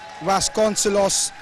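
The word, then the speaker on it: Vasconcelos: connect correcting me there vasconcilos is actually a portuguese pronunciation thank you liz for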